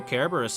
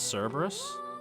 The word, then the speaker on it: Cerberus: goodbye loyal caribouris cat did you know kerberos is actually the proper way to uh pronounce cerberus much like kaiser is the proper way to pronounce caesar the things you learn